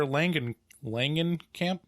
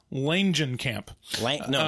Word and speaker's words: Langenkamp: Thompson, played by Heather Langenkamp. Yeah. Do you pronounce the J? The G? Yes, I believe you do. Langenkamp.